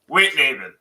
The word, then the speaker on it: Wittneben: the correct pronunciation is 3 syllables. Wit, everybody gets that right. Nay, Nay, bin, Wittneben.